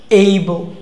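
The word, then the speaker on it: able: হ্যাঁ, অ্যাবল বলবো না, আমরা কি বলবো না, অ্যাবল বলবো না, আমরা কি বলি, অ্যাবল। ওকে, অ্যাবল, অ্যাবল আসলে অ্যাবল না, অ্যাবল কি ছিল, এইবো। অ্যাবল কি হয়, এইবো।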